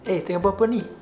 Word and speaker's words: Tengah buat pe ni: The upper sounds like it blends together with the other words and then become, tengah buat apa ni?